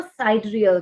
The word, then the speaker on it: sidereal: Okay, उनसे जो related चीजें होती हैं उनको sidereal कहते हैं.